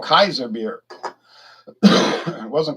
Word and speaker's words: Kaiser: the german emperors okay kaiser's um which is the way the word is pronounced in latin and german kaiser uh in 1907